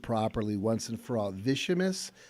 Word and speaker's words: Vicimus: next phase of our company's sales growth let's pronounce it properly once and for all vicious like it s every time it is and